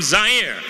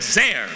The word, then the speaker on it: Zaire: Hello everyone, Howard Cosell coming to you live from Zaire. Some would pronounce it Zaire. They're wrong.